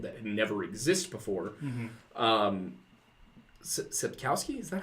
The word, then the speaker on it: Sapkowski: Sapkowski, is that how it's pronounced?